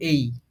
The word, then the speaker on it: A: কিন্তু সবাই ভুল করি এটা অবশ্যই এ উচ্চারণ হবে না এটা অবশ্যই উচ্চারণ হবে এই হ্যাঁ তারপরে বি এটা